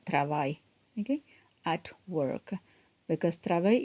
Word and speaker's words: travail: So the L, you don't pronounce the L, au travail.